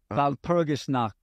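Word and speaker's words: Walpurgisnacht: Wasn't that like Valpurgisnacht? I can't pronounce it. Valpurgisnacht.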